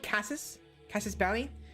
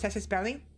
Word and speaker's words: Casus Belli: I always call it Casus Belli, but I think it's pronounced Casus Belli.